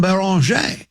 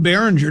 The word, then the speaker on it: Beringer: His name is Joan Baron. I'm not going to pronounce it Joan Behringer.